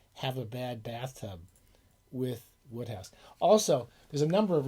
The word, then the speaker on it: Wodehouse: going to pg woodhouse i think it's pronounced woodhouse if i'm wrong please don't tell me but i'm pretty sure it's pronounced it's pronounced different than the way it looks it's pronounced woodhouse and uh he is